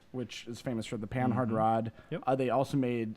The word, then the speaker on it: Panhard: panhard rod which pause actually panhard it's spelled panhard but because French is a stupid language every letter after the second one is silent it'd be like pan now probably it's wrong to